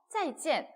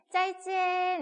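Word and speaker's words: 再见: 그래서 막 찐 이렇게 막 일성으로 읽고 있는 거예요. 사성인데 그래서 한국인들은 꼭 인사할 때 老师 선생님 짜이찐 이런다는 거예요. 일상으로 막 이렇게.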